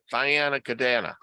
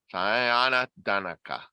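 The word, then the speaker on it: Thayendanegea: was Brant, Joseph Brant, Thyana Cadana, or whatever. I mispronounced it before. I heard it today and I says, I'm not going to forget. Thyana Dakana. Danaka. Yeah. Thyana Danaka. That was his name.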